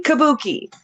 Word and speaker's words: Kabuki: Kabuki.